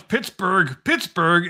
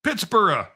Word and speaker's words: Pittsburgh: And as far as people from the British Isles, particularly, they come here and say, why do you guys pronounce Pittsburgh and not Pittsburgh?